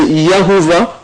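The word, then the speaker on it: Jehovah: On parle, c'est Jéhovah, c'est prononcé Yahovah, ok, et Yahoo, ou Yahoo, c'est la même chose, comme ça.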